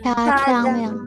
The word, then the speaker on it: jajangmyeon: Jajangmyeon. Jajangmyeon. Jajangmyeon. Gak jajang, Sam. Jajangmyeon. Nanti coba dengerin lagi drama Korea. Lah sering muncul jajangmyeon, dengerin oh jajang. Jadi bukan jajang.